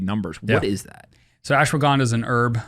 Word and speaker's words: Ashwagandha: There's something else that you talked about, and I'm going to butcher how I pronounce this, but it's Ashwagandha? Ashwagandha.